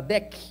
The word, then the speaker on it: DEC: Corporation digital equipment Corporation né pronúncia mais correto chamada Deck que se tornou numa